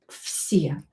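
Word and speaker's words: все: the money at once So this v will be pronounced as f vsye voiced consonant near unvoiced like here near s will be too so v will be pronounced as f vsye vsye um or Okay srazu good.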